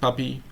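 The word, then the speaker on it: PPEE: be using we've got ppe pronounced puppy and p insider those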